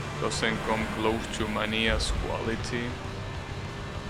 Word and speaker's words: Mania: close to mania's Quality I have to stop pronouncing it like that it's Mania it's not money and here's how you will pronounce it in Spanish in English I'm pretty sure it's Mania oh you're saying